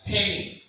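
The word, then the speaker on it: ἡμῖν: Ini artinya ada tanda pernapasan. Bacanya hemi.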